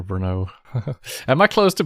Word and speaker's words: Brno: One guy from US always said Bruno for Brno.